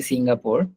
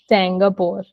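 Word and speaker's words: Singapour: say it like English we don't say Singapore okay we have to read it in the French way and we have to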